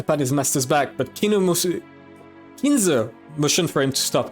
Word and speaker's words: Kinzo: Ganon got closer and tried to pat his master's back, but Kinzo motioned for him to stop. He is not Kino. I need to be careful to not mispronounce it.